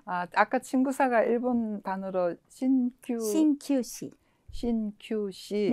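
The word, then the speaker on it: 鍼灸師: 아까 친구사가 일본 단어로 신큐시. 신큐시. 네.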